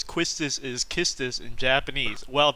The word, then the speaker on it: Quistis: pronounce Quistis as Kistis, we might as well pronounce Sabin as Mash.